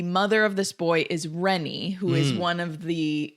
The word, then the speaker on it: Renni: So they go back and forth because obviously Rennie, right? That's how you say it. Yeah, Rennie. Rennie is distraught about her son, and she asks if Silco's going to take any action against Jace.